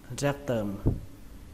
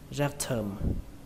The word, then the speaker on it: rectum: Ruột thẳng thì chúng ta đọc là rectum, rectum. Cách đọc thứ hai chúng ta đọc âm T này thành âm thờ, đọc là rectum, rectum.